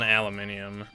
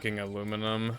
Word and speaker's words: aluminium: think you're helping yourself I'm not wrong on aluminium also like we like we literally spell it like aluminium like we like that is how we spell it how does it okay how does it not sound better to you than aluminum I don't understand that